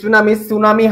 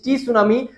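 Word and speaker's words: tsunami: Plate and সাবস্টন্সে টি সুনামি সুনামি হয় অর্থাৎ সুনামি হয়। এটা একটা ইন্টারেস্টিং জিনিস। টি সুনামি সবাই বলে। কিন্তু উচ্চারণ হচ্ছে সুনামিস। কিন্তু সুনামির সামনে একটা টি থাকবে।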